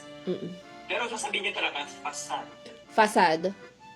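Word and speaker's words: façade: Po-pronounce ko yung D kasi may E sa huli.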